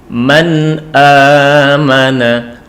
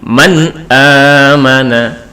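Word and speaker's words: مَنْ آمَنَ: Man amana, man amana. Jadi bukan man, bukan, tapi man amana, man amana.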